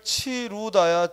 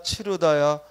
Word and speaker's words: 치르다: 오므리다 해서는 안 되겠다 또 잠그다 잠그다 잠그다 자꾸 잠그다 잠구다 하면 안 되겠다 또 물에 담구다 담그다 담그다 담그다가 아니라 담그다 또 이을 치루다 치르다 치르다 그래서 이런 말들 우리가 의로 의로 발음해야 되는데 자꾸 원순 몸 우로 잘못 발음하고 표기하는 걸 조심하자이 말이에요 그래 잠그다 담그다 치르다 오므리다